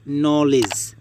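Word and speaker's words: knee: Rules 1, শব্দের শুরুতে কে এন থাকলে তার উচ্চারণ হবে দন্ত্যান্ন, এক্ষেত্রে কে অনুচ্চারিত থাকবে।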